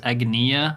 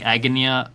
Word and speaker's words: Agnea: I I think the correct way is Agia, like with a long e, but I I feel like Agonia sounds better, so that's what I always call her.